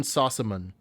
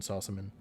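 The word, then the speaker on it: Sossamon: the main character and Shannon Sasson or I don't know how to say her name. I think it's Shannon Sauan. S O S S A M O N is her last name.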